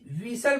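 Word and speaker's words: whistle: है साइलेंट होता है डब् एच आई एस टी एल विसल पढ़ते विसल यहां पर टी साइलेंट है ओ एफ टी एन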